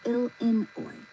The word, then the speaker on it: Illinois: Illinois isn't L-A-N-Y. It's Illinois. The I is long. The second syllable is in, not an The French thought they were clever.